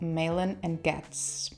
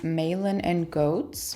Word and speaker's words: Malin + Goetz: filmed the video but the brand is called menen and gats just to clarify because I do think I said it wrong in the video there you go it's